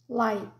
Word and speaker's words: light: criar Muita confusão ó a palavra Light Light é até ele acaba sendo quase que mudo ele é um t que a gente faz um movimento da boca para pronunciar ele mas o ar não sai Light Então lá é uma